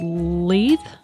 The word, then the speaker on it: Lethe: I think it's the sixth episode it's called leap le th e yes that's how you pronounce it I have no idea which szerik